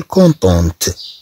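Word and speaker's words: contente: في المؤنث نقول كونتونت، نضيف او فتنطق هاد الطي. او تتكون ديال التأنيت، او خاصة بالتأنيت، نضيف او الخاصة بالتأنيت فتنطق الطي، تنطق في هاد الحالة هاد الطي.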